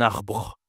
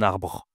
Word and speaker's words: arbre: Bien sûr, on dit le on doit le prononcer en français. Un arbre. Un arbre. En vrai, si je mets pas de e, c'est la même prononciation.